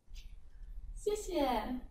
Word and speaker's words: 谢谢: 谢谢。不客气。谢谢 means thank you. The second 谢 in 谢谢 is neutral tone.